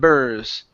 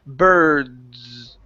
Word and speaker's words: birds: ok next one here we need to get this D sound to jump out okay because that your arm was good you'd said BRR okay but you said burrs okay so I need that D birds birds birds there